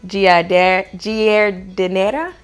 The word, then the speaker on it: giardiniera: Let me see if I can pronounce this right. Giardiniera.